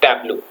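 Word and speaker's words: Tableau: a b l e au but it is pronounced as tblo okay what is exactly a Tabo it is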